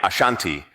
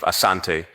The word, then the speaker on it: Asante: The variant name Ashanti emerged from British reports, where the pronunciation of Asante was transcribed as Ashanti, reflecting how the British heard and interpreted the word.